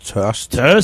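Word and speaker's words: Tørst: it's called TST it's spelled t but it's pronounced TST it actually means thirst in Danish uh we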